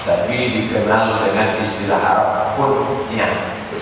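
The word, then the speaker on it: kun-yah: Abu Darda itu bukan nama, tapi dikenal dengan istilah Arab kunyah. K-U-N garis sambung nyah, kunyah. Mesti garis sambung. Kalau tak garis sambung nanti orang yang tak paham dibacanya kunyah. Kunyah.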